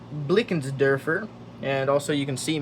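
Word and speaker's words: Blickensderfer: Um, this is pronounced Blickens Derfer.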